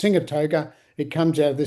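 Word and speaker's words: Sigatoka: It's called Sigatoga. It's actually should be pronounced Singatoga.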